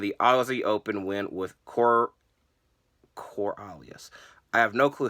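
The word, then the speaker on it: Coriolis: on Rhett, and the Aussie Open win with Coralius. I have no clue how to say their finisher. I did Google it. It is Corealis. I'm not very good at pronunciation, but very good match from both sides.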